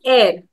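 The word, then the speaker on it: heir: this is pronounced as air. The H is silent, just like in honest or honesty.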